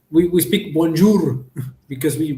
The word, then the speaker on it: bonjour: They speak it with the throat, not with the mouth. Right. That's the only problem we have, because we were speaking like, for example, bonjour. We speak bonjour because we pronounce the R like really Spanish.